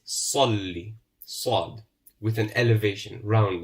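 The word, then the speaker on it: صلّ: We said that the Sad, because it's written with a rounded figure, we pronounce with a round mouth. Salli. It won't be Salli. It won't be Sa, or it won't be Swa. It's Salli.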